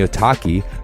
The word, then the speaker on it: Otaki: And the Otaki, rhymes with souvlaki, is an aggressive high-performance shoe designed to hold the downturned shape even after repeated lashings.